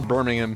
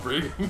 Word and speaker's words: Birmingham: Birmingham. Yeah, that's... I completely mispronounced that. What did you pronounce it as? It's like Brigham or something. Bringham? Brigham. Oh, yes, the city of Brigham. This is London, not Birmingham. Come on.